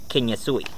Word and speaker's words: Ken Utsui: Well, that's how it's pronounced right here. Ken Utsui.